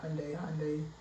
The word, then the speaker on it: Hyundai: I got a 2016 Hyundai. That's how you pronounce it, Hyundai Accent.